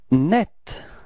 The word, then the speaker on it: net: Net. Repeat. Net. Okay. And it's quite interesting because the the feminine form is written in a different way, but it's pronounced the same way.